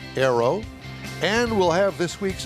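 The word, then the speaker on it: Ayro: Well, did I pronounce it right, Arrow? You did. It's spelled a little odd with A-Y-R-O, but it is pronounced Arrow.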